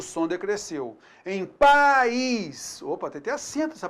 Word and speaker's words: país: Você então vai notar aí que a gente tem uma semivogal i, tá? Pais, houve um declínio, né? Então o som ele diminuiu. Pais. Muito diferente da palavra país. Pronuncie então pais. País. Você notou aí?